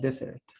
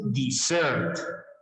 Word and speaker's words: dessert: We couldn't decide between chocolate ice cream, vanilla ice cream for dessert. Desert is the Sahara Desert, the Sonora Desert. Yes? No, this is dessert.